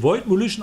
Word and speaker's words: Voidemolition: Doch, also es wird Voidmolition ausgesprochen.